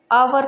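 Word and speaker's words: hour: Honourable में भी H silent है और आवर में भी एच साइलेंट है।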